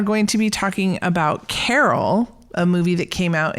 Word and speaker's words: Carol: his wife's name was Carol but his Canadian accent he produc pronounced it Carl and so for quite